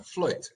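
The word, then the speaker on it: fluyt: But this, for example, this ship here is what is called, I think we pronounce a fluit, F-L-U-Y-T, which was a Dutch ship.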